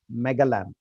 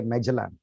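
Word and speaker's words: Magellan: heard the name Ferdinand megalan we say megalan Americans say meelan Ferdinand magelan was a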